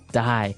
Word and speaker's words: dye: Okay, dye. So it's pronounced exactly the same way as, to die, to not live anymore.